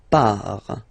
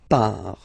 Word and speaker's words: pars: Okay, so the first form is je pars. So final S not pronounced. Je pars.